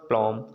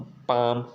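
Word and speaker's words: palm: यल कब साइलेंट होगा? जब यम के पहले आता है तब। जैसे बहुत लोग क्या पढ़ेंगे इसको? कॉलम, मॉलम, प्लॉम, ठीक ना, एलिमेंट। तो यहाँ पर हम क्या पढ़ेंगे? कॉम, बाम, पाम, ठीक है ना, ये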